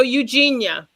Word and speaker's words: Eugenia: And am I pronouncing it right? Is it Grandma Eugenia? So Eugenia. Eugenia. Yeah. Yep.